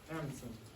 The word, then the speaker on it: Anundsen: Anderson.